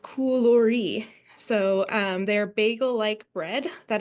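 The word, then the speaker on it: κουλούρι: It's pronounced koulori.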